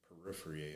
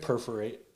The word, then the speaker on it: perforate: three times a second his could peripher I think that's how you say it perforate perforate thank you the skin 50 times